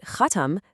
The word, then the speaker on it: خاتم: A tiny little change in how you pronounce the word completely shifts the meaning. Khatim, that refers to the person doing the action, the one who seals. But khatam, that's the object, the result. It's the seal itself, or by extension,